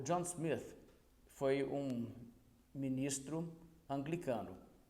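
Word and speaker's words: Smyth: A pronúncia do nome dele certo é Smith, escreve com Y, tem gente que vê o Y e acha que tem que fazer uma pronúncia diferente, mas é Smith igual qualquer outro Smith.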